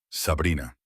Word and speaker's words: Sabrina: Sabrina. Lo dijo con la pronunciación siciliana, haciendo rodar la R, haciendo que son como una caricia.